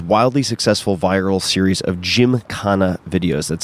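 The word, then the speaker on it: Gymkhana: Fame through his wildly successful viral series of Jim kanana videos that's spelled g ym KH h n a these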